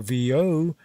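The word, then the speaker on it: Viau: name of teo phil vo finding that his surname pronounced like vo cath exposed him to the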